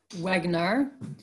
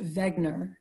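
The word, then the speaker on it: Wegener: you have this guy Alfred Wagner although it might be pronounced Vagner actually in the late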